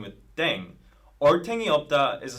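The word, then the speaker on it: 땡: playing with language now the pronunciation of Deng is similar to Thang which is the thing in English yeah last but not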